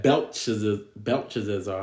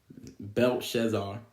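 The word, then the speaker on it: Belshazzar: Man and you have Bel belar I always say his name wrong Bel shazar you know he he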